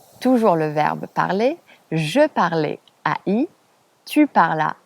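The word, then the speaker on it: parlent: et elle au pluriel, ça s'écrit ENT à la fin, mais ça ne se prononce pas en. On ne dit pas il parlant parce que c'est ENT, on dit il parle.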